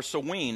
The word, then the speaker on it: Samhain: So what they're saying is the celebration of Samhain, or Samhain as it's pronounced in more the English side, is that's the night